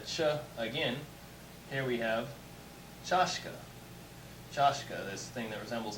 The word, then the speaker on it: чашка: Here we have chashka.